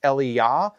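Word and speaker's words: אליהו: it's not and so in Hebrew it's Eliya and Ellie Shaw so you can hear the accent falls on different syllables and in a ways that it's a little easier to distinguish them but in English if we say Elijah and Elisha it sounds almost like the same name so remember Elijah is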